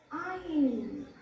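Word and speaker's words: -yne: आइन। क्या बोलते हैं इसे, आइन बोलेंगे। वो इन था, अब ये आइन लिखा इसलिए क्योंकि हम लोग प्रोनाउंसिएशन में थोड़ी मिस्टेक कर देते हैं।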